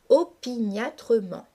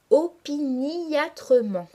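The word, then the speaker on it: opiniâtrement: se mettent àindre opiniatrement opiniatrement est un adverbe qui se prononce classiquement en cinq syllabes opiniatrement mais pour respecter la métrique du poème le lecteur doit ici marquer la diérèse et prononcer une syllabe supplémentaire en disant opiniatrement vous voyez donc à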